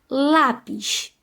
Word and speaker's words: lápis: Bom, vamos olhar aí a ordem da penúltima sílaba. A penúltima sílaba aí nessa palavra é lá, né? Então, lá tem acento. Então, qual vai ser o acento? Ó, lá. Lá é acento agudo, gente, porque também tem um som aberto.